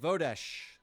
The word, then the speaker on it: Vodesh: Uh, next on the list, Vodesh. Vodesh. Present. Vodash. Freezing. Um, how do you spell that?